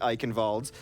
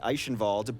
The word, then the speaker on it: Eichenwald: to be the one casting the vote on how we pronounce Eichenwald, because you went Eichenwald, ZP went Eichenwald. Both are correct.